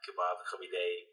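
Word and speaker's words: kabab koobideh: I have some kebab kabideh.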